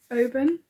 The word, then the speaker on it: Oban: I did go into one yarn shop in Oban, yeah, I did say that right. I was saying it wrong to start with, which is embarrassing.